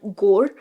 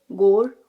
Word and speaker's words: gore: This tiny section between the cups, it's called gore, rhymes with more, gore, more.